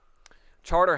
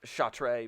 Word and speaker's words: Chartres: where's the best place charter house is pretty good and it's spelled c-a-r-t-r no apostrophe e c-c-a-t-r-e-s chartres cha-tree but they pronounce it charter yeah well because they're